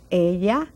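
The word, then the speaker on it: ella: has if it's feminine a ya viene watch that double l area just like yes in english alia DNA and then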